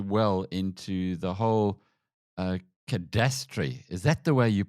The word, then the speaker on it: cadastre: And I guess that leads us very uh very well into the whole uh cadast. Is that the way you pronounce it? Cadastra.